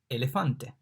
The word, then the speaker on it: elefante: E, elefante. In fact, the E is pronounced like elephant, elefante, elephant.